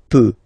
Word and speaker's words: peux: Final X not pronounced here, okay? So you've got X, but you don't pronounce it, so basically you get the sound peut, je peux, okay, so I can, je peux, okay. Then tu peux, same pronunciation and same spelling or writing, okay. P-E-U-X, okay, don't pronounce the final X.